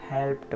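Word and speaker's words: helped: जितने भी लेटर्स है, किसी भी एक लेटर के बाद यदि ईडी लगा हो तो ईडी का उच्चारण ड ना होकर हमें ट प्रोनाउंस करना चाहिए। तो देखिए यहाँ पे हेल्प के एंड में जो है पी आया हुआ है, उसके बाद ईडी है तो इसे हेल्प्ड पढ़ते हैं।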